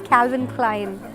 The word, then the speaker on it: Calvin Klein: So this is pronounced as Calvin Klein.